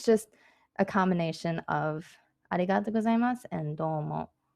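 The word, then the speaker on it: ございます: end of a sentence when it's at the end of the sentence you don't fully pronounced sue it's mus like it's like an S sound um I'm not sure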